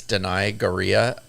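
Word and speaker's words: Danai Gurira: not worse dress this is actually good it's deny gorilla I believe is how you say her name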